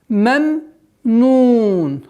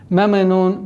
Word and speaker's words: مَمْنُون: Вот здесь нужно на втором произношении звука мим нужно не торопиться, потому что торопливость в этом моменте переходит в калькаля. Меменун, меме. А нужно спокойно. Мемнун, мемнун. Договорить звук второго мима с сукуном.